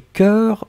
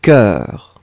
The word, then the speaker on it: cœur: Sundar, corps et cœur sont prononcés de la même façon. Pas du tout, Sundar. Le premier que vous avez écrit, corps, C-O-R-P-S, un corps, O-O-R, corps. Le deuxième, un cœur, E-E-E-E, un cœur, d'accord?